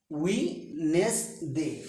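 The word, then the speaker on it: Wednesday: ওয়েডনেসডে, ওয়েডনেসডে, ওয়েডনেসডে নয়, ওয়েডনেসডে, ওয়েডনেসডে, উইনেসডে, ডি উজ্জ থাকবে।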